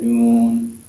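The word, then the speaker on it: ن: not pronounced with valid they're just pronounced by the name of the letter so the name of this letter is new so it just said noon um usually it's an elongated sound um and what does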